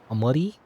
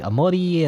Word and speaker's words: Omori: Well, in Japanese, actually, Omori and Omori will be pronounced the same, because the L sound is the same in Japanese, or at least, you know, it's pronounced, well, they have a different pronunciation system, you know. So it would be pronounced basically the same. The L and R sound is like mixed together, if that makes sense.